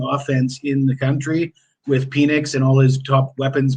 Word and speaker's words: Penix: I believe it's pronounced Penix, and he wouldn't have he has the Twitter handle Big Penix Energy, right? Oh, okay, that's his Twitter handle. And it wouldn't make sense if it was Penix, right?